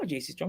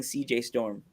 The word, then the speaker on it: JC Storm: I kept accidentally saying CJ Storm.